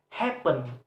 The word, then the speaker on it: happen: And then a word happen, happen also have two syllable, and the first and the stress is placed on the first syllable.